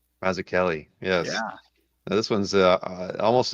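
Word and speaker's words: Mazzucchelli: David Mazuchelli. Yeah. This one's already at uh 33 or I take it back. He pronounces it Mazu Kelly. Mazu Kelly.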